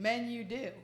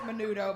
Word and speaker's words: Menudo: Look at the band he was in, Men You Do. I mean, you know, they let us, I mean, they pronounce it menudo, but that's just to throw you off.